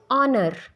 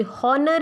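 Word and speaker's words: honor: एज इट इज़ इन ऑनर, ऑनेस्ट, ऑनर, ऑनेस्ट, ये हॉनर या हॉनेस्ट नहीं होता।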